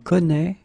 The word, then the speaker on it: connaît: Je connais, tu connais, il connaît, elle connaît. And keep in mind that it's a strange thing, I know, but you should put here this accent circumflexe. You don't pronounce it, I know that, but